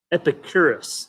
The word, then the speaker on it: Epicurus: Epicurus, I think is the pronunciation.